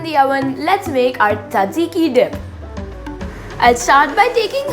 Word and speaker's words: Tzatziki: So today we'll be making healthy smashed potatoes with the delicious dill dip, which is also called Tzatziki dip, or in Greek pronunciation, Tzatziki dip.